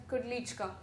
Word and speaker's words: Klichka: First of all, This this last name is pronounced as klichka. Now for the first time if I were to see that myself I wouldn't be able to identify. We could say kudika. We could say klichka.